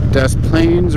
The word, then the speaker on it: Des Plaines: in both hands brother Des Plaines River I know the S is silent off my [ __